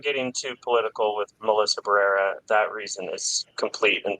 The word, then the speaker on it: Barrera: Barrera.